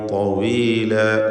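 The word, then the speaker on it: طويلة: അതുകൊണ്ട് ലൈല ലൈല എന്ന് നേർപ്പിക്കല്ല, ലൈല തവീല ലൈല തവീല തവീല. അപ്പോൾ താഇന് മാത്രമാണ് ഈ വചനത്തിൽ തഫ്ഖീം വരുന്നത്.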